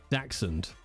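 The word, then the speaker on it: Dachshund: mom called him Zeus daxon that's how you pronounce it Jay Jesus Christ daxon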